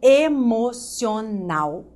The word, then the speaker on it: emocional: A última sílaba é a sílaba tônica.